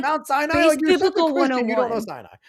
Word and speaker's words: Sinai: it was like it's Sinai. It's Sinai, dude. Like are you blind? You're such a Christian, but you don't know Syinai. That's like Mount Si. You don't know Sinai.